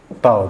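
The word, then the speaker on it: τ: Tau, bacanya tau.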